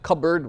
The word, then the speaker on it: cupboard: considerations for why you're like cupboard we don't pronounce it but because of its root cup board right even though that's not